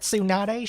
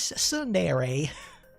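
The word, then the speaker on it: tsundere: I've been saying it wrong since I was a boy. She's not sununady. She's sundere.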